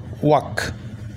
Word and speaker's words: walk: ঠিক সেই রকম এইখানে এর পর যদি এল থাকে এবং সেই এলের যদি উচ্চারণ না হয়, তখন এর উচ্চারণটা কিন্তু আমাদেরকে করতে হবে আ। তাহলে WALK ওয়াক।